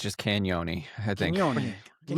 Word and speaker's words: Cagnoni: So, we've we've all watched some tape on Luca Canon. Um and uh you just don't pronounce the G. It's just Canon, I think.